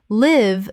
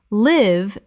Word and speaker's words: live: Live the verb. Live rhymes with give. Live the adjective, not recorded.